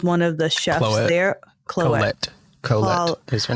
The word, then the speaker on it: Colette: Colette Colette is her name. I always just say Clawudette.